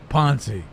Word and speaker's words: Ponce: Yeah, he wanted me to say his name, so I'd say it right. Ponce.